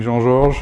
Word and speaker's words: Jean-Georges: the us i um i lost a little bit of french way of pronouncing jean george which is too tough